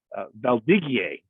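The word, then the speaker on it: Valdiguié: hey wait a minute that's not gamma that's uh valdigie uh is is how you pronounce the variety uh correctly and through some of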